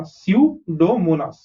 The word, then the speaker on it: Pseudomonas: Spp dot is several species of Pseudomonas. Pseudomonas we've already seen, right? That's why I'm not explaining the pronunciation. Okay, यहाँ पे p silent होता है, s से start करो pronounce करना. Pseudomonas.